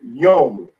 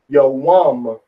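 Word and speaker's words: יום: That's the first form of the day, which is the word yom in the modern Hebrew, and then yawam in the ancient Hebrew pronunciation, the Paleo pronunciation, yom, yawam.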